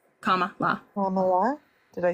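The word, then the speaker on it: Kamala: thank you you're welcome it's like a comma and then law comma law comma did I say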